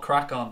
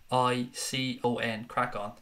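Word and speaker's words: Craic On: The new channel is called Crack On. I've put it in the chat there. It's spelled C-R-A-I-C-O-N. Crack On.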